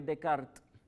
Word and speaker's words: Descartes: y apellido es francés en el idioma francés se pronunciaría rené de kart de kart graben css apellido cuando te escuchen de kart se están refiriendo el apellido descarten porque la pronunciación cambia y ya que estamos